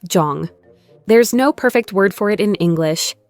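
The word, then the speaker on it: 정: In many Korean families, there's a concept called jung, often pronounced like jong.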